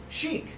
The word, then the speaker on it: Chic: Chic. C-H-I-C. Chic. I have to spell it for you. C-H-I-C. Chic. Check. No. Chic.